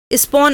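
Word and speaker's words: spawn: उसको स्पॉन कहते हैं ध्यान से suniyega किसान भाई स्पॉन उसे शब्द का उच्चारण है उसको स्पॉन कहते हैं और जब हमने 2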